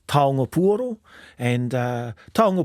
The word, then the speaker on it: taonga: first question I asked him if I was pronouncing the word Toro correctly you are correct it's tongo and uh Tong P basically means now T